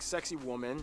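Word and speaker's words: Sacsayhuamán: This one, you're kind of supposed to pronounce it like sexy woman.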